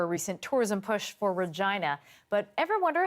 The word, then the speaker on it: Regina: There's been some controversy over a recent tourism push for Regina.